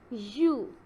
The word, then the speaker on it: ewe: A female sheep is called ewe. You will pronounce it as a E-W-E.